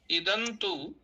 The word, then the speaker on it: इदन्तु: देवी पठति अग्रे इदन इदन्तु तो वहां तू जो है दीर्घ उकार आप उच्चारण कर रहे है वो भी ध्यान रखें इदन्तु दिव्या बाकी सब